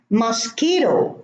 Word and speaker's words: mosquito: Mosquito, no U.